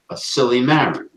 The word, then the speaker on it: silymarin: Milk thistle, the active ingredient is a silymarin. Right. It's not spelled like silly putty. It's just, that's the way it sounds.